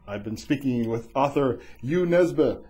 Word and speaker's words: Jo Nesbø: been speaking with author U neba and also known as Joe Nebo if you're looking him up because that's how it's spelled and ybos the leopard